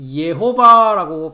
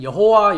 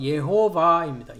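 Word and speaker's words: יהוה: 그럼 주의 이름은 예호바라고 발음을 하고요. 한글 성경에는 여호와 여호와 그래 있습니다. 그렇죠? 네. 그래서 히브리 발음은 예호바입니다.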